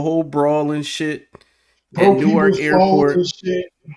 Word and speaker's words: Newark: Oh, no, so it's like no, Newark? So it's just one syllable.